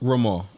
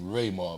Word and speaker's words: Rafer: or or yes RAR rar okay my brother and sister their names is Ray Ray for raying but a lot of people pronounce my name rayar because of them but it's really RAR okay yeah cuz the